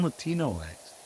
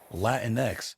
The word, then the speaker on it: Latinx: x or just Latinos are you saying Latino eggs because that's like the common thing to say today isn't it don't sing that I'm sorry even then he said it wrong wow it's latinx oh don't see this